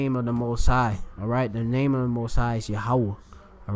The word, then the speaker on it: Yahweh: Yahweh right there. All right, that's the Most High name. It's not Yehovah either. That's an improper way, of course, of pronouncing it. That's what the fake false Jews pronounce it in Yiddish.